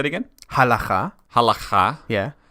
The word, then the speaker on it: halacha: Halacha.